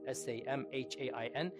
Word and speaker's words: Samhain: Samhain is spelled Samhain, S-A-M-H-I-A-I-N, S-A-M-H-A-I-N, but it's pronounced Samhain.